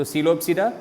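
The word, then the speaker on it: Psilopsida: P is silent over here and here. Okay. So Coelopsida, P silent, Pteropsida, P silent.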